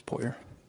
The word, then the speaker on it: Poirier: Puyer. Will you spell that?